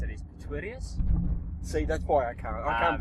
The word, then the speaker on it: Pretorius: But generally, we just say Pretorius, which is the English version of it. Yep. If you just say Pretorius. So, yeah, it's pretty simple. Okay. But that's not the right pronunciation. It's actually German. Okay. Yeah. So if you think Pretorius. Okay, if you can throw a German accent into it, you're there.